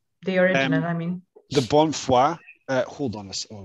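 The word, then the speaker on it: Bonnefoy: you pronounce his name i would have said bon foy because i'm an ignoramus i was corrected to bonfire um and i'm pretty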